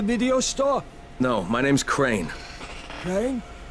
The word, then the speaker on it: Crane: store no my name's crane okay crane rhymes with train and brain and sane and grain and rain and plane and the other kind